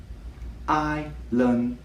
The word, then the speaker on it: island: I think the easiest way to break down the word island is into 3 sounds. I, lun, d. Island, island. 3 sounds, but 2 syllables.